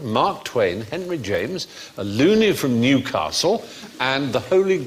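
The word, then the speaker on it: Looney: James and the professor loony it was unfortunate his name though believe it's pronounced Lily from Newcastle who wrote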